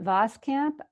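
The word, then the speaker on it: Voskamp: author's name of the book it is an vos camp if I pronounced that ya announce that correctly it's B OS k a.m.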